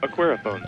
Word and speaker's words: Aquariphone: Aquariphone.